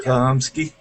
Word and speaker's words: Chlumsky: Chlumsky.